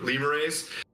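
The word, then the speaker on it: lemure: mashed and turned into lemon race like lemurs it's spelled like lemur lemurrays who can advance to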